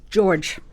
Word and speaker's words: Georg: So, of course, I looked for an expert in the field, and I came across George. I've just got to say, he doesn't put an E on his last name. Georg, and his last name